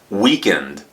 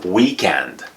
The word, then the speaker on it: weakened: Weakened is the past tense, and weakened is the past participle. Don't pronounce this word when it's in the past or past participle as weekend. That's something different. It's weakened.